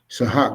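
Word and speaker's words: צחק: Sahak, that's how you say it in Hebrew.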